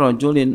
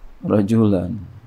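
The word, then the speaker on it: رجل: Penulis maunya rajulin, maka dia nggak pakai alif di lamnya. Ya, dia nggak pakai alif di lamnya. Ya, nah kita yang baca ikutin, berarti bacanya rajulin, nggak ada alifnya. Kalau ada alifnya berarti bacanya rajulan.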